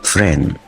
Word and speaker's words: friend: الكلمة اللي بعد كده friend يعني صديق، وهنا برضو الان مع الدي ما بنطقش صوت الدي فبقول friend. طب لو جيت اجمعها بقول ايه؟